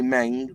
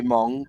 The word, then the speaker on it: Meng: saying you know yeah we say Meng they say Mong but we say Tamia